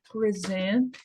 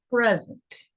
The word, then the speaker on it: present: 2 sílabas, se é adjetivo ou substantivo, vai ser a primeira. Eu vou dar modelos para lembrar isso. No verbo, não. O verbo muda para o final.